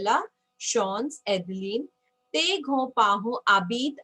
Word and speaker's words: habitent: Tes grands-parents habitent à la campagne. So your grandparents live in the countryside. Tes grands-parents habitent. Okay. So ENT, again, we all know we are not going to pronounce ENT.